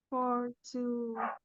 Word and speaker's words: fortunately: Please make sure you have the right pronunciation. Fortunately, unfortunately. Fortunately. No, not fortunately. Fortunately, unfortunately. Fortunately. Unfortunately. Ok, el acento está en for, no en nay.